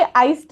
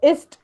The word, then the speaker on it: ist: Okay, आइस्ट नहीं, वो इस्ट होता है उसका प्रोनाउंसिएशन.